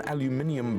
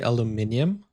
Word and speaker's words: aluminium: In Norway, do you say aluminium or aluminum? Cuz you can see it clearly is written aluminum cuz that's the American spelling and pronunciation. But he he seems uh like he's British.